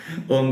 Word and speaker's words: ओम: ओम का उच्चारण कैसा करेंगे, लंबा ओ, ओम का उच्चारण करेंगे तो